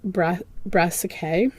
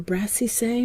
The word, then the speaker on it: brassicae: garden white butterfly, Pyrus brassicae, or brassicee, maybe. I can't recall if that is a hard or soft C. I think it's a soft C, brassicee.